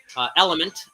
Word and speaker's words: LMNT: And don't forget, I'm giving away free assessments with any purchase of the $120 4-pack Element, pronounced Element, spelled L-M-N-T, pronounced Element.